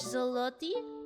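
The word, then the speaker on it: złoty: Why is your L? Why are your L's a W? Why are your L's W's?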